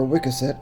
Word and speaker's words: Wiscasset: The next stop on our road trip up the coast was in Wiscasset, or Wickaset as I've heard it pronounced.